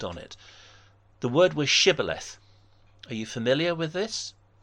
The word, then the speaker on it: shibboleth: They said sibboleth, not shibboleth.